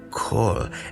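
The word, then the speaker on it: כל: It is written with a patach, an A sound, but it's pronounced O, kol, and this means all or every.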